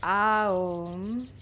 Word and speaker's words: Om: We're going to start our session today with 3 rounds of Om, singing it stretched out, so really drawing out each syllable so that it sounds like Aum.